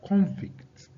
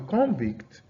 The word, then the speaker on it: convict: Now that's showing you that the stress is on the first syllable, right?